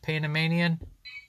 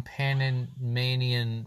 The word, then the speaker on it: Panamanian: Speaking of which, the first day in Panamanian rhymes with bad. Oh, the Rattata sucks. The first A in bad. Rhymes with the A in bad.